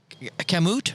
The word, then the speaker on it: Kamut: Kamut, right?